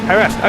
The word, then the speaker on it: Jerez: X zodiac uh I think relating to Johan har yes Johan got stuck in the gravel trap the gravel trapped here at uh at um jerz I had realized Butz Herz is it okay har har okay thanks guys you you let me say